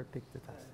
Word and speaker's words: Epictetus: Epictetus or Epictetus?